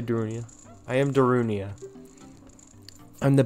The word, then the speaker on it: Darunia: I always pronounce it I always pronounce it as dunia all right I'll say darunia I am darunia I'm